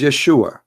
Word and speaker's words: Yeshua: it isn't because they cannot pronounce the correct word the correct word in the Hebrew is Yeshua as simple as that